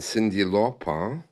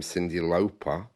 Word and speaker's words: Cyndi Lauper: as Whitney Houston and then Cindy lopa one day that was corrected and she became Cyndi Lauper um I'm not sure